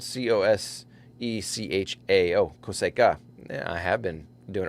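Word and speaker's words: cosecha: the 146 coseco and so i think it's coseco it's spelled c-o-s-e-c-h-a-o coseca yeah i have been doing it wrong uh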